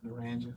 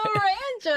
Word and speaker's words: Naranja: How do you pronounce it? Naranja. There you go. Naranja.